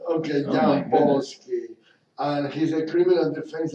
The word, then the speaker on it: Jampolsky: What I tell everyone is yam rhymes with ham, pole is in pope, ski is in slow. Okay, Oh my Jampolsky.